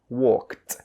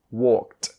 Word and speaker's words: walked: end of a word the Ed D sound is pronounced as a t so this word is pronounced oun as walked Walked so you still have